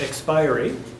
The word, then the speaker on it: expiry: He thinks it's pronounced expiry, which I looked it up. It actually can go either way.